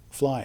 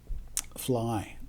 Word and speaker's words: FLEI: So our acronym for this is like fly, FLEI, using the Germanic pronunciation. EI is pronounced I in German. Fly.